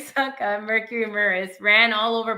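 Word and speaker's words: Csonka: Larry Kasanka, I'm saying his name wrong. I'm sorry. Larry Kasanka Sanka. Thank you. Larry Sanka, Mercury Murice, ran all over Buffalo's defense while Bill's QB Joe Ferguson was constantly battered.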